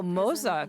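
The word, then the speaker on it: Moze: Oh, Moza, that's how he's pronounced.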